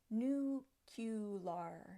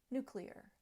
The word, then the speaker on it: nuclear: and it's this one many people are fond of saying New Q lar New Q lar but there is no Q in the middle of new qlar it should be nuclear clear new clear basically it's how it sounds so we don't want a q in the middle there is no Q in the middle nuclear the scientist had spent